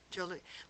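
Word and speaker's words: Jos: Except it's spelled J-O-S. It's spelled J-O-S, but it's pronounced Joe.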